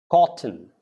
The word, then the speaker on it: cotton: It's not cotton. Cotton. The T goes for the T, but the T becomes silent.